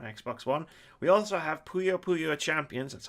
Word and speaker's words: Puyo Puyo: We also have Puyo Puyo Champions, that's how you pronounce that, Keith, on PC, PS4, Xbox One, and Switch.